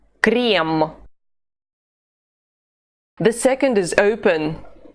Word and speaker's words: крем: The first of the 2 is closed. E. E. Крем.